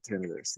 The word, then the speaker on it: tinnitus: And if you don't know what tinnitus is, good for you. But it's that ringing in your ear. Some people pronounce it tinnitus. I find most health practitioners pronounce it tinnitus that I've run into.